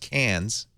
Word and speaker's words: Cairns: In Australia, there's a town called Cairns, Cairns. Mm-hmm. There's McKay Island, Mckay Island. But I was told several times, no, it's pronounced Cairns and Mackay.